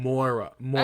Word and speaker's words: Moira: Laura with an M. Yes, that's it. Moira.